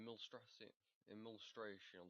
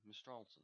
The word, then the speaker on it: Mistralton: In Millstration City, or Millstration, Mistral Mistralton City, there we go, I've been saying it wrong the entire my life.